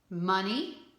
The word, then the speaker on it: money: Money. Now you read that one again. We have talked about the EY at the end, making that E sound at the end of a word.